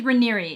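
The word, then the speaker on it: Raniere: So the main guy that was involved in this was named Keith Reeri or Keith Reneer. I've heard it pronounced both ways.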